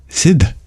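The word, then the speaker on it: Sidh: party in New York Sid not s Sid s d h that's how he pronounced it Pepe jerked upos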